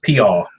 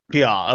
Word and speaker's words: Peaugh: Well, Dakota went all Louisiana with it and just Peaugh. That's probably close. It's just Peaugh. Peaugh.